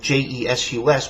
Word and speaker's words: Jesus: So, for example, Jesus in Latin, Jesus, would be pronounced Jesus, the same as the Greek.